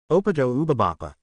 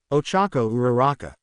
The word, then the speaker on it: Ochako Uraraka: Opato Ubabapa. At this, Izuku laughed at Eri's pronunciation. No, Eri, Ochako Uraraka, Ochako repeated.